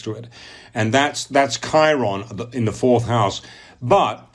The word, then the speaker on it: Chiron: just google astrology Chiron which is belt c-h-i ro n those pronounce Chiron Chiron CH iro n